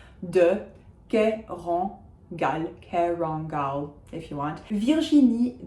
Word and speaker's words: Virginie: We say the je of Virginie without a j in front of it, so it's not like Virginia, it is Virginie or Virginie.